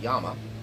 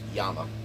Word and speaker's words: Llama: the parent company of Yama we call them llama here in uh the United States but it's pronounced Yama two L's in Spanish is a y sound how do I know